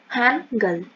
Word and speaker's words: Hangul: All three are correct. Just pronunciation is Hangul.